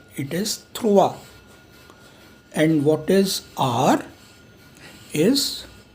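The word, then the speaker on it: trois: सो और अगर दोपहर के 3 बजे हैं, 3 PM, so what is 3, इट इज थ्रुआ.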